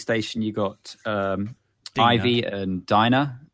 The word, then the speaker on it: Dinah: But I mean, you've got on the space station, you've got Ivy and Dinah. Dinah or Dina? I can't remember. I've always pronounced it as Dinah, but D-I-N-A-H, isn't it?